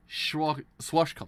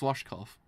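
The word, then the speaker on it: Schwarzkopf: Swashkopf, that's how you pronounce his name. I remember now because it's a hair product. It's Swashkopf. Although reinforced by just 2 people, that's not insignificant for a flight mages.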